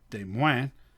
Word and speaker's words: Des Moines: In French, it would actually be pronounced Des Moines.